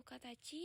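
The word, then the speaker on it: 形: Untuk cara bacanya itu sendiri di situ ada kuniominya yaitu kata chi dan juga kata. Sedangkan untuk oniominya itu ada K dan juga Ko.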